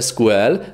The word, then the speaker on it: SQL: strage ql tak tutaj tak tutaj jest proponowana wymowa po angielsku SQL więc jak już to SQL a nie sequel jak niektórzy tutaj mówią No i teraz ten